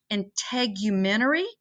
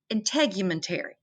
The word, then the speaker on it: integumentary: say this other word integumentary or integumentary integumentary there's two different ways i looked it up and they were both both pronunciations were in the dictionary that i saw so um that's really